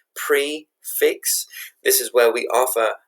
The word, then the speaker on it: prix fixe: Prix fixe, or this is spelled P-R-I-X-F-I-X-E, but it's prefix.